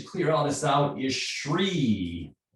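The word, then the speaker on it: chree: all this out is sri is spelled c h r double e tree it's a little bit like the the the liver sound it starts up and then it goes down i'm going to demonstrate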